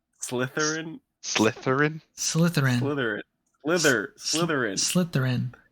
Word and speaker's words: Slytherin: Slytherin Slytherin Slytherin Slytherin Slither Slytherin Slytherin it's like a slithering snake Slytherin now that you've